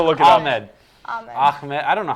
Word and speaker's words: Ahmed: Ahmed. It's It's Ahmed. Ahmed. I'm gonna look it up. Ahmed. Ahmed. Ahmed. I don't know how you want to say it. It's not a K. It's Ahmed.